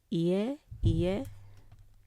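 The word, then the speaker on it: いえ: Okay, we have E as in Hawaii and then E again. So ie.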